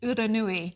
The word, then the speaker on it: Uranui: It's Uranui. Did you say Uranui or is it? Uranui. Uranui. Yeah, Uranui. it's a Māori word.